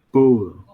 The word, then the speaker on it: bowl: Oh, itu bacanya bowl. Oh, Ball. ball. Ya, Bowl. ini kan B-O-W-L ya. Biasanya Hmm. B-O-W-L kan. B-O. Kalau ini B-A-L-L, beda ya, beda dikit. Ini bacanya bowl.